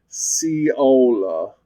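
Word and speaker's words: Seollal: Also, uh turns out it's pronounced sea lol.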